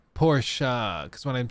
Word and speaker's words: Porsche: Well, it's pronounced Porsche.